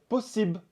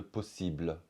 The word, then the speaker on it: possible: un exemple on va dire possible au lieu de possible c'est possible mais le